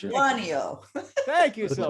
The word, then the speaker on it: Lituanio: How do I pronounce it? Lituanio. Thank you, Silke. Lituanio.